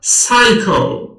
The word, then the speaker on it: psycho: کلمه تلفظ می شود psycho. حرف P نوشته می شود لیکن تلفظ ندارد.